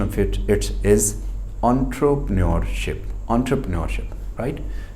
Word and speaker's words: entrepreneurship: तो हम लोग इसको, the right pronunciation of इट्स इज एंटरप्रेन्योरशिप, right.